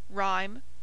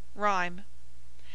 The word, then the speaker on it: rhyme: who oo hoop whole H after R has no sound or use as in room rhyme pronounced room rhyme H should be sounded